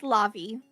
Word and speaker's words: Lavi: I keep saying your name wrong. I'm so bad about that. Lavi. It's okay. Uh, It's Lavi.